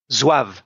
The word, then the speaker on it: Zouave: But we learn a little bit about, and I'm not sure how you pronounce it, Zouave? Zouave, les Zouaves.